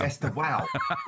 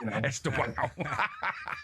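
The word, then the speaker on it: Estêvão: Well, first of all, you pronounced him wrong, didn't you, Aid? It's Esteval. Esteval. as we well know.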